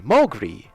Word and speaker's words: Mowgri: Mow, like mow the lawn, Mowgri. It rhymes with agree.